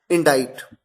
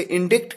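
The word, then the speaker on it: indict: तो सही उच्चारण है डी, इंडाइट। इसमें सी साइलेंट है और आई को आई प्रोनाउंस किया जाता है इंडाइट। कई बार मिस्टेक करते हैं लोग, इसे इंडिक्ट कहते हैं, यह है इंडाइट।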